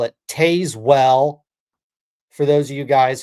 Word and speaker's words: Tazewell: I know that's a crazy idea, but if your city's pronounced spelled T A Z E W E L, it's Tazewell. No, I digress.